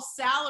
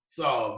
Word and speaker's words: Saul: Is it Better Call Sal or Better Call Saul? Saul, Better Call Saul. It rhymes with call, Saul.